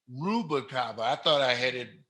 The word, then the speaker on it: Rubalcava: Did I pronounce her Rubalcava? Rubalcava. Rubalcava.